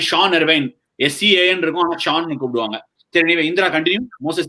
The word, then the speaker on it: Sean: Jean Paul Duminy, Sean Abbott, that way? Exactly! Similarly, Sean Ervine. S-E-A-N but they will pronounce it as Shaun.